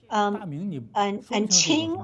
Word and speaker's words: Qing: How come, and Qing also has the same pronunciation as blue.